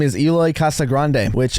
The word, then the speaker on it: Casagrande: His name is Eloy Casagrande, which apparently I learned it's supposed to be pronounced Casagrande, but I'm an American.